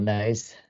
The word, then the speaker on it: Nys: And I have to be careful too with Sven Nys and his son now, Thibaut Nys. Not saying niece, because I want to say niece, but that's nice, I believe.